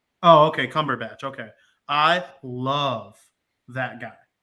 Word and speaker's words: Cumberbatch: how you say his name as dr strange cumberpatch oh okay cumberbatch okay i love that guy love him i